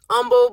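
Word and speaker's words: Humble: and I would tell them I was in Umble. It's pronounced Umble, but it's spelled H U N B L E, right?"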